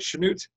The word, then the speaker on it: Chanute: Is that how you say it, Chanute?